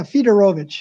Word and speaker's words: Fedorowicz: uh of course the the w is pronounced as a v correct yes that's right that's right theodorovich i just didn't put